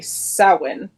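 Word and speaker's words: Samhain: the origins was from the Druid holiday sowin or however you want to pronounce it it's got an H in it you don't pronounce it it's confusing um and you know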